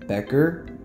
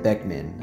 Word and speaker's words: Beckman: So, I first want to give credit to Sam Becker. Sorry, I mean Sam Beckman. I knew I was saying it wrong.